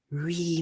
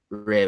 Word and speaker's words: Re: I know Luna had mentioned on multiple occasions as far as as Rey was concerned and that I I still will say Re but with that pronunciation um and Rey being